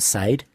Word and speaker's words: Sade: Was that Sade? Sade, it's pronounced, Lucas.